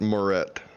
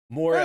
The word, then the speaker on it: Moret: let me know how to say your last name. It's Moret. Moret. That sounds close. I've been saying that right. I've been saying it mostly. Yep, the whole time you've been, Brett, you've been saying it right.